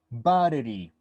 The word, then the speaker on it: battery: The consonant T, we pronounce it as R, battery, okay?